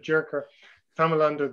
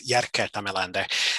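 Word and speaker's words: Jerker Tamelander: richard for that and no worries i am very used to having my name mispronounced it's jarker tamelander it's a pleasure to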